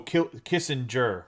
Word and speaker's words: Kissinger: So Kissinger with a J, like it's a J, so it's a soft. Gur would be a hard G.